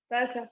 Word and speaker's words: Sasia: ¿Cómo se pronuncia tu nombre, Sasia? Sasha, pero si quiere me puede decir.